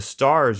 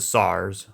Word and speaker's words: SAR: So the stars are very... The SARs, well, I call them stars, but it's pronounced SAR.